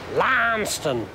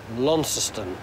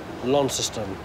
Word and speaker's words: Launceston: this one in fact this one is named after the Cornish one but we pronounce the Cornish one lanceton and I can't get that out of my head but I will